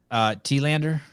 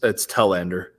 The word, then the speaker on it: Tellander: Tomorrow morning, we have Zach T-Lander. It's Tellander. How do you know? Because he said you got to say it like smell.